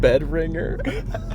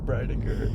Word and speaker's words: Breidinger: You said Bedringer? How do you say her last name? Oh, Breidinger.